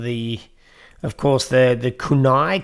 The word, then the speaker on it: kunai: get rid of the of course the the kunai kunai kunai kunai kunai would be the um the chronic correct pronunciation it's funny because i actually lived in